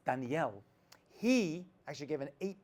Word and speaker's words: Daniel: giving over and Daniel that's actually how you pronounce it it's not Daniel or Daniel it's Danielle he actually gave an